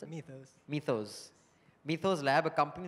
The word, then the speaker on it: Mythos: How do you pronounce it? Mythos.